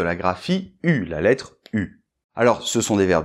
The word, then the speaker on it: eu: j'ai pu alors là c'est vrai que ça s'écrit eu1 mais ça se prononce pu alors on peut remarquer